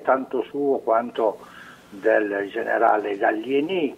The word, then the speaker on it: Gallieni: Il merito non è tanto suo quanto del generale Gallieni, che essendo i genitori italiani lo potremmo anche pronunciare senza la I accentata, e quindi generale Gallieni, che si è accorto